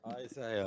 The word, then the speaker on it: Isaiah: Isaiah.